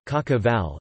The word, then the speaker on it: cașcaval: In Romania and Moldova, kashkaval Romanian pronunciation, kashkaval, is used to refer to a number of types of yellow medium and semi-hard cheeses made of sheep's or cow's milk.